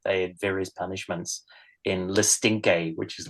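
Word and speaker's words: Le Stinche: a prison ever but apparently that's how it's pronounced because I thought I've been calling it The stinch for years and then I hear the audiobook no it's the stinky really okay uh so yeah no that's uh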